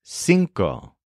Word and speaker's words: cinco: r o and the word for five is sinko spelled c i NCO so for example we'll